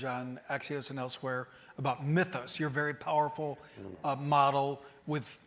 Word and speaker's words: Mythos: And by the way, that is the correct way to pronounce it. I verified it with the top. Yeah, Mythos. Yes. Some people say Mythos and some Mythos, and that's definitely not correct.